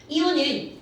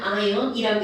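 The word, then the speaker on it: ion: 이제 노출이 많이 되니까 이혼은 콩글리시 아 실제로는 아언이라고 읽어야 되는데 그냥 이혼이라고 읽어 버립니다 어 그런데 이런 이유은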